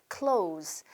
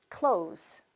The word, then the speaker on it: clothes: 자, 첫 번째는 clothes. 네, 발음하실 때 그냥 clothes. 가운데 있는 th는 신경 안 쓰셔도 됩니다. 따라하세요. clothes. clothes.